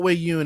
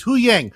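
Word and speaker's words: Huyang: That's not We It's not Wei Yun. It's It's Hu Yang.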